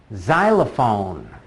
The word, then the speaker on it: xylophone: Xylophone. Xylophone. That's one of those few words that is spelled with an X, but makes a Z sound.